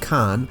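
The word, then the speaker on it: kaan: here at the bottom is the snake image pronounced Khan and this little feature is a grammatical prefix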